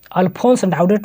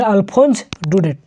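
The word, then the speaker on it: Alphonse Daudet: अल्फोंस डाउडेट नहीं, जिसको जो पढ़ना होगा, लेकिन सही उच्चारण है अल्फोंस डुडेट।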